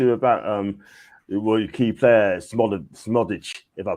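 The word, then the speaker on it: Szmodics: John T, I want to talk to you about your key player, Smodic, if I pronounce it right. Is it Smodic? Yeah, Smodic.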